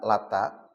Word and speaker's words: Lata: Pertama lata.